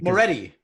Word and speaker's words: Moretti: Am I pronouncing that correctly? Moretti.